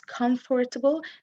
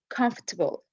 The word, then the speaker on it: comfortable: don't pronounce it as comfortable they say it as comfortable so you drop this syllable do anyone please wanna